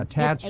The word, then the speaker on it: thatched: but they don't say thatched roofs you know how they say it don't you in Ireland the Irish don't pronounce the h they use H as a silent yeah attached roof a attached roof